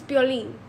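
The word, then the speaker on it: Piolín: Because in Spanish it's Pioling.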